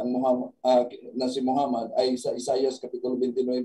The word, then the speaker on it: Muhammad: pa kaya mmad nagiging Muhammad ang Muhammad has two m in the middle Muhammad Muhammad makita natin merong dalawang m yung Muhammad merong only